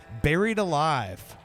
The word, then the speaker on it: Berried Alive: And it's spelled like buried, like Berried, like bury, like From accounting. not Barry from accounting, like Barry, like member berries, you know, South Park reference, but Like a smoothie.